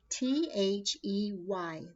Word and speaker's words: they: we have this word t-h-e-y the word is they but the way we're going to pronounce this word friends this e y has a sound of a but when we say